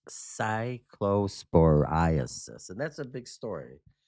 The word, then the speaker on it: cyclosporiasis: It's pronounced Cyclo-spore-eye-uh-sis. Cyclosporiasis. The pronunciation guide. You're close, Hammer. I got an assist from G Unit on that pronunciation. Again, it's Cyclosporiasis.